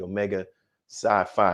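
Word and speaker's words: Omega Psi Phi: how you're a member of your your fraternity omega sci-fi am i pronouncing it right yes sir so what made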